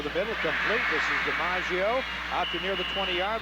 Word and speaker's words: DiMaggio: It's spelled like looks like it's Domingo, but it's DiMaggio.